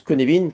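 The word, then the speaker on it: Cynefin: se prononce ça s'écrit cinechine mais ça se prononce Kevin parce que c'est du Galois kenevin est une approche de la gestion de la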